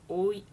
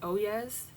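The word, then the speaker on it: Oyez: So, there is a website called Oay. It looks like oes, but the actual pronunciation I've learned over time is oay.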